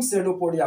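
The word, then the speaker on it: pseudopodia: कि दोनों क्या है, ये अब यहाँ पे पी से साइलेंट, पी साइलेंट है, तो इसको हम सेडोपोडिया बोलते हैं। क्या बोलते हैं?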